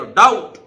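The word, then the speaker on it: doubt: ढंग से पढ़ाया था कि बी के बाद अगर टी आ जाए तो बी साइलेंट रहता है तो डाउट डाउट देखिए ड आउट डायरेक्ट बी को नहीं बोलेंगे सीधे डाउट डाउट जिसको बोलते हैं संदेह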